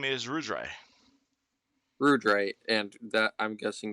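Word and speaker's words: Ruidre: your name uh uh me my name is rudray rudray and that i'm guessing that's going to be pronounced exact spelled exactly how i think it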